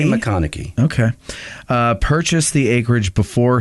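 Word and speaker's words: McConaughy: I say McConaughey.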